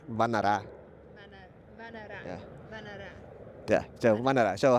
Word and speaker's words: Vannara: Then the Cambodian way to pronounce it is Vannara.